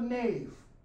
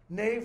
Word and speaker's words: nave: a bunch of cathedrals it's called the knave okay it's the knave of the church Nave like in Naval Navy why because the